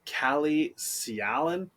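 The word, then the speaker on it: Calle Sjalin: the Florida Panthers for Kalle Sialan, I believe is how it's pronounced, and a conditional 7th-round pick for the Florida Panthers.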